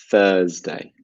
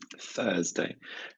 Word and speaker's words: Thursday: of the week is Thursday Thursday and this has the same pronunciation as 33 third yeah it's 1/3 so make sure you practice with your tongue in your teeth so now my question